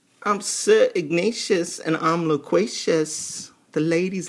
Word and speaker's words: Ignatius: because I realized that ignacious rhymes with everything it's like ignacious courageous loquacious so he can be